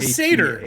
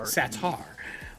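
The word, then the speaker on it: Satarre: Not the satyr, by the way. Satar. Yeah, Satar.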